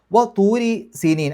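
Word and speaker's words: طُورِ سِينِينَ: തൂരി സീനീൻ, അവിടെ റാഇന് കെസറായതുകൊണ്ട് രീ എന്നുള്ള ഉച്ചാരണം കൊടുക്കുക. തൂരി സീനീൻ വഹാസൽ ബലദിൽ അമീൻ.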